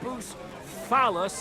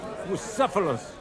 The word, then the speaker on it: Bucephalus: What kind of name is Boost Phallus, anyway? It's pronounced Bucephalus, this cat.